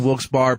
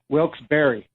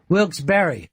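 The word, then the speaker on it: Wilkes-Barre: Jim will be at Moheaggan Sun in Wilsbar, Pennsylvania, November 9th and 10th.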